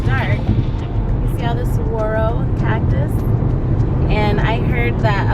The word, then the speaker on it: saguaro: They're pronounced, I guess here, saguaro, not saguaro with a G. It's like saguaro.